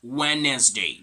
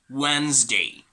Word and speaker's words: Wednesday: going to be this word wednesday okay not wednesday but rather wednesday wednesday right okay guys i want to